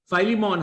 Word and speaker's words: Philemon: Philemon, however you say it, that one chapter book, brother.